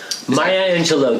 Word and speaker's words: Maya Angelou: And I hope I can pronounce this name correctly. Maya Angelou? Maya Angelou, Dr.